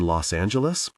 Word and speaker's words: Los Angeles: You in Los Angeles? He said it with a hard G.